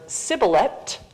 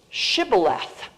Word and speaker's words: shibboleth: Europe among the Jews the northern ashkenazic Jews pronounced this letter the sheen as an sh and the tub at the end as a th so much softer pronunciation